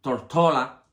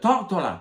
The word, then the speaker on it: Tortola: de La Isla tórtola que en inglés ellos pronuncian tortola pues cuando le preguntaban que De dónde tú eres Oh tórtola tórtola al al oído